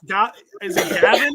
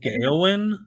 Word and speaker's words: Gawain: Is it Gavin in this case? I think it's Gawain. I've heard it pronounced Gawain. That's how my Middle English professor pronounced it, but then the movie pronounced it just Gawain.